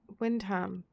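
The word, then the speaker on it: Wymondham: It's pronounced wind Windham. Wait, what? That's not right. That's not how you English. You speak what? Windham. Windham. You're missing some letters there, mate.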